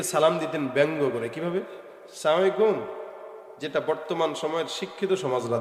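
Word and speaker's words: السلام عليكم: এই যে অনেকেরই বোঝা যায় না, সালাম আলাইকুম দেয় না, আসসালামু আলাইকুম। শুরুর হামজা আর আসসালামু এর মিমটা, এই দুইটা উচ্চারণ ঠিক মতো করবেন, তাহলে আসসালামু আলাইকুম, তাহলে সালামের উচ্চারণটা স্পষ্ট হবে।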